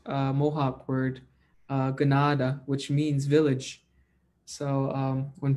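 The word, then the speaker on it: Kanata: word canada it's actually a mispronounced mohawk word ganada which means village so when people say i am from canada they're mispronouncing a word from our own people which is pronounced gennada and that means a village so everybody that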